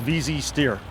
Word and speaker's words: VZ steer: like like vermier has that's called VZ steer and it rhymes with easy right VZ steer it's an easy steer and it really is